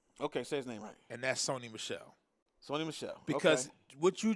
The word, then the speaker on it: Sony Michel: And that's Sony Michel.